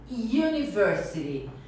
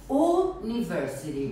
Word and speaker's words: university: O primeiro erro é a pronúncia de university. Eu ouço muitos alunos usando o U como se fosse o mesmo, falando university. Muito comum. Então, nós vamos falar U. University. University.